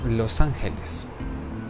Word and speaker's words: Los Angeles: Correctly pronounced in Spanish, Los Angeles.